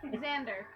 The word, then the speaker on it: Xander: Xander. Xander. Oh, it's Xander, not Xander. You know this. The X is a Z. No, it's an X. But it's pronounced like a Z.